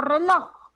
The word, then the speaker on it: reloj: Por ejemplo, cuando digo reloj, ¿dónde está la mayor fuerza de voz? Loj. Loj.